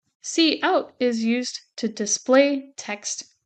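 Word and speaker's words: cout: called C out so notice it's not pronounced count it's pronounced C out C out is used to display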